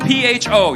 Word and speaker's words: pho: It's spelled PHO. You ever heard of that soup? Yep. When I went there, first time, I go, can I try your pho? The lady's like, it's not pho, it's pho.